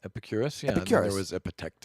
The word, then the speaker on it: Epicurus: moving on to Epicurus yes or did I pronounce that right Epicurus yeah it was a protect us and he